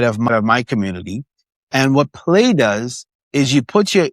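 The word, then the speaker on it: PLAI: Play. Yeah. U. And I use it inside of my community. And what Play does is you put your you put your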